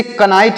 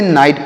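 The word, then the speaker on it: knight: तो इसे कनाइट नहीं पढ़ना है आपको, इसे क्या पढ़ना है? इसे नाइट पढ़ना है।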